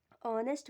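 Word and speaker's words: honest: जैसे जहाँ H silent रहता है वहाँ हम क्या लगाते हैं, एन, और जहाँ एच साइलेंट नहीं रहता वहाँ क्या लगाते हैं, ए। जैसा कि एग्जाम्पल में हम बताए हैं, ऑनेस्ट मैन, ऑनेस्ट मैन के साथ हम क्या लगाएंगे, एन।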